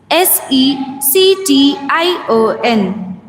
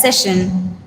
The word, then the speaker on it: section: Next one is s e c t i o n. Section. We use the word section in our daily lives and often mispronounce it as session.